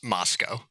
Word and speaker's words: Moscow: I watched a documentary on it last night and uh it's definitely pronounced Moscow.